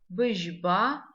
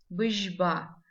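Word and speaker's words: быжьба: Быжба. Звук ж. Пишем его как ж, мягкий знак. Быжба. Звук и не читаем, как в русском языке, твердо быжба.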